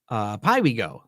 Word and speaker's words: Piwigo: Piwigo. Oh, there we go. I'm super glad Veronica's here and helps me pronounce things.